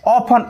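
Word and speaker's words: often: Concept 1, F plus T हो तो वहां पर टी साइलेंट होता है। जैसे ऑफन, ऑफन मिस होता है प्रायः, सॉफन, सॉफन मिस होता है कोमल करना।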